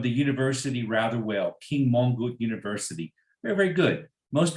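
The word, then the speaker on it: Mongkut: I learned and um and yes you did pronounce the the name of the University rather well King mongook University very very good most people have have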